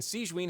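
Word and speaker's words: Sigewinne: This is the infirmary, and Sigewin here is the Fortress of Meripede's head nurse.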